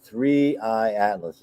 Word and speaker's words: 3I/ATLAS: KI, how do you pronounce it? KI. No, well, they do it differently. 3-eye atlas is what it is. Okay, Three Eye Atlas isn't a machine.